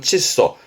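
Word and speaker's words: 窒素: 발음은 칫소. 그 화학 용어에서는 질소의 칫소.요 마킬질은 특히 질식의 칫소 끄면 될 거 같고요.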